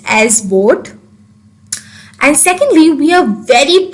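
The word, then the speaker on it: BODHD: first of all b-o-d-h-d is pronounced as boat where d and h are silent i repeat b-o-d-h-d is pronounced as board and secondly we are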